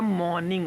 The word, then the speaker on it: morning: आप अपनी मॉर्निंग मतलब सॉरी मॉर्निंग नहीं होता मॉर्निंग होता है मॉर्निंग र आर साइलेंट होता है मॉर्निंग रूटीन हैबिट्स